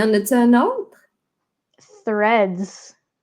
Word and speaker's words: Threads: Threads. Threads. Ah, le fameux TH. Ah, suivi d'un R en plus.